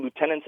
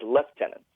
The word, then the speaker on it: lieutenant: of members including myself referred to lieutenants as left tenants and that's also very common in the British Army and the the British Armed Forces in general so I was always wondering why it's pronounced that way uh especially in the more Commonwealth Nations compared to let's say in the states where the rank is referred to as Lieutenant yeah that's a really great